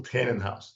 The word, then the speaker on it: Tanenhaus: So today on the Strategy Shift podcast, we're joined by Michael Tannenhouse. Did I pronounce that correctly?